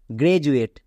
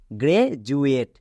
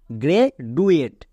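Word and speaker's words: graduate: জন্য বর্গীয় জয় হয়েছে একে অনেকে ভুল করে উচ্চারণ করে এডুকেশন নেক্সট গ্রেজুয়েট এখানেও দেখো ডি আছে এবং ডি এর দুপাশে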